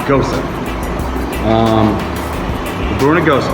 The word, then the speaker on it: Gose: ghosa um go so that's the way it's pronounced a lot of people will say uh goes or goose gooeys is something different but uh yeah this is actually pronounced ghosa um we're brewing a ghost today obviously we're